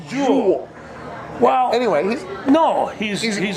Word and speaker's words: Joel: all changed it to jewel do you guys get jewel Erickson act willow but it says Joel but pronounces a jewel Wow anyone know he's